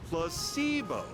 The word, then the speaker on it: placebo: Placebo. Oh, I've learned this one. The stress is on the middle syllable.